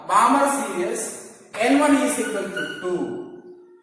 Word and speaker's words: Balmer: The L is silent. Not Balmer, Balmer series, n1 is equal to 2 and n2 is equal to 3, 4, 5, etc.